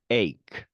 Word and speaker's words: ache: 그리고 끝소리에 가는 경우에는 크 발음이 나는 경우가 많습니다. stomach, ache 이렇게 되는 거죠.